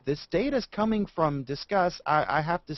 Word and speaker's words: Disqus: Discuss. I think they meant to say like discuss.